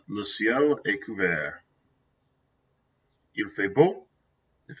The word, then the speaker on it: couvert: Notice the T is silent. Le ciel est couvert.